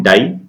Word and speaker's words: DiI: इसका नाम है डाई। इस डाई का नाम भी डाई ही है। इसकी स्पेलिंग है DII, pronounced as डाई itself. इस डाई की हेल्प से